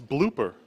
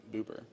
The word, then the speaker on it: blooper: it's a booper cut no it's blooper yeah I know but you said Boer I did not we have it on recorded we can go back and see you did not say it correctly all right I need